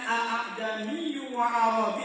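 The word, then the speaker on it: أعجمي وعربي: Dia nggak boleh mantul a. Kalau mantul salah.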